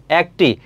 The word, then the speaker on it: একটি: একটি। দেখো উচ্চারণটা কি? এ এর উচ্চারণটা অ্যা এর মত হচ্ছে। এটা উচ্চারণটা হবে একটি। অ্যা হবে।